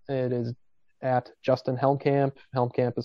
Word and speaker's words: Helmkamp: is just my name it is at justinhelmcamp helmcamp is spelled h-e-l-m-k-a-m-p uh the other ways that you